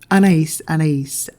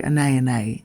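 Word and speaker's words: Anaïs: Last but not least, I picked Anais from Cacharel, or Anais, as it should be pronounced properly, even though I like to say Anais, just to piss people off,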